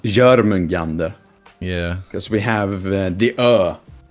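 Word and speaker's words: Jörmungandr: Same with, you know, Jormungandr is the way people say it, but, you know, it's pronounced Jormungandr.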